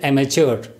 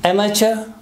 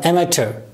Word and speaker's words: amateur: always been on pronunciation this word is normally mispronounces a matured this is amateur or amateur there are two different pronunciations amateur or amateur